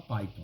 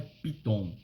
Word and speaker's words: Python: primeiro você precisa aprender como se fala Python né não é Piton é Python tá então Python é uma